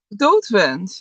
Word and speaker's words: Doodswens: Doodswens. Your Doodswens.